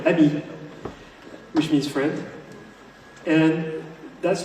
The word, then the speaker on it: AMI: We actually pronounce it the French way, Abby, which means friend.